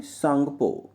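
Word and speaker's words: Tsangpo: बताइए दोस्तों जल्दी से, सांगपो। बिल्कुल सही, सांगपो। ठीक है ना, सांगपो। टी साइलेंट रहता है, टी सांगपो आप पढ़ सकते हैं या सांगपो आप कह सकते हैं।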